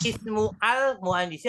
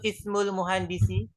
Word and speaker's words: ismul muhandisi: Bacanya ismu al muhandisi atau ismul muhandisi?